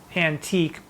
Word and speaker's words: antique: your image in some antique but it's pronounced antic in some antic book